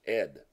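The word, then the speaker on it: אֵיד: It's a common first name, Ed, pronounced Ed.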